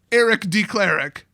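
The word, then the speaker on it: Aarik D. Klahrek: And it's pronounced Eric D. Cleric.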